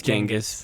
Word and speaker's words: Genghis: It's Genghis, but whatever. Genghis You want to Khan. just pronounce it wrong your whole life.